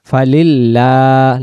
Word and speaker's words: فلله: মিনহা ওয়ালাহুম ইউস্তা'তাবুন فاليوم لا يخرجون منها ولا هم يستعتبون فلله الحمد ফালিল্লাহ লা উচ্চারণ হবে, এটা আল্লাহ শব্দের সামনে এই যে জের।